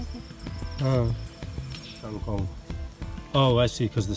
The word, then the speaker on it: kangkong: It says this is tangkon? Kangkong. Tangkon? How do you spell that? K-A-N-G-K-O-N-G. Kangkong. Huh.